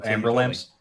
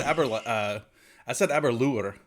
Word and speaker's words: Aberlour: my my favorite bottle of whiskey, because I pronounced it wrong for years. Oh, Amber Lamps? Yeah, Amber Lamps. Amber Lamps, yeah. Amber Lamps. No, I said Aberlour for a long time, and Todd at some point goes, Aberlour.